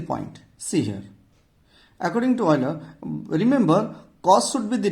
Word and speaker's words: Euler: Don't pronounce it Euler, it is Euler.